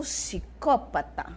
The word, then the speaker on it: psicópata: diferente essa palavra psicópata além do p o som vocês percebem que o som do P sumiu eu não falo PSI eu já falo si né e o ó